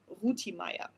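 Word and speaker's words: Rütimeyer: Rutima is the correct pronunciation with respect to horses from reasons which I cannot hear give.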